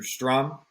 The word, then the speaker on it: Strohm: Strom. Is that how you pronounce it? Last name? Strohm. Yeah. Strom. Strohm comes out Strom. It's German.